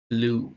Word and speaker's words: blue: Temos aqui a palavra blue, blue, tá? B-L-U-E. E por mais que tenha um E, aqui o E é mudo.